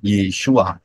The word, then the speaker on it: Yeshua: pintu keselamatan yaitu melalui y Shin wau Ayin bacanya yesua karena siapa berseru e